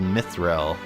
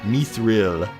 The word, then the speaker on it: mithril: look for something called mithril or me through depending on how you pronounce it the loser town called